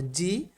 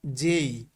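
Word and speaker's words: J: এরপরে আগে আমরা পড়েছি বা ছোটবেলায় আমরা পড়েছি জে, কিন্তু আসলে এটার উচ্চারণ কিন্তু প্রোনাউন্সিয়েশন কিন্তু কি না, জে না, বরং জেই। এই বিষয়টা কিন্তু খুব খেয়াল করতে হবে, জের প্রোনাউন্সিয়েশন হলো কি, জেই।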